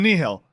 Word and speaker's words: Nihil: I was like, yeah, it's the Nihil.